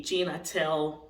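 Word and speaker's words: Gene Attell: to spell okay and how does this sound when it's pronounced okay I'll give you an example so I we have the celebrity um Amy Schumer who named his son Jean g-e-n-e atel okay Gina tell then the rest of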